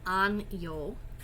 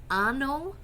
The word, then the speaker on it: año: This word here is pronounced año, yo. Okay. You have to be very careful with your pronunciation of this word because if you mispronounce it, you can change the meaning completely.